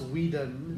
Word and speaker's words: Whedon: It's a different spelling and everything. Yeah, I know, but it's Wheaton. It's pronounced the same way. Yeah, it's hilarious. Anyways, but that's what I was thinking about. Joss Whedon.